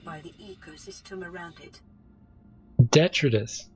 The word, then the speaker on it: detritus: depends on the organic detritus produced by the ecosystem around it. Detritus, not detritus or whatever that was. It's detritus. Computer's pronouncing things wrong.